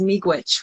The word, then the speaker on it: miigwech: And Odella says miigwech, which is how you say thank you in Ojibwe.